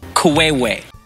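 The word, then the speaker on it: queue: to pay tribute to the word q if you read it in full it is Ku now sanv asks the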